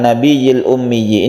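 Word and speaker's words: النَّبِيِّ الْأُمِّيِّ: kita bahas yaitu pada kata-kata and nabiyyil ummiyyi ini harus jelas yaitu tasydidnya harus dibaca tasjid sungguhan maksudnya adalah penekannya itu harus harus jelas pada huruf ya dan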